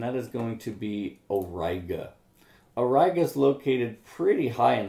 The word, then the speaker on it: Auriga: there and you see you run right into auriga and that is the pronunciation of that most people do mispronounce it when they first see the word and so it is again origa so araga is this pentagon type shape in